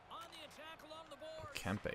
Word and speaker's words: Kempe: Kempe, that's how his name is pronounced.